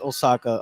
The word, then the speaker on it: Oaxaca: know this, but there's a lot of places, dialects in Mexico where the X is pronounced like an S. Yep. Okay. So hence Osaka on the pronunciation.